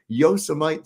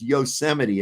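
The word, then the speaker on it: Yosemite: laughing she goes it's yosity and I was like everything I learned about physics tell or about phonics tells me that no that's not what that says it almost sounds like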